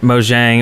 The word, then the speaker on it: Mojang: on his live stream so that right there is definitive it's mojang that's how notch says it even if it's actually pronounced mo yang who knows easy also said that it depends on which language you're speaking yeah crap now it's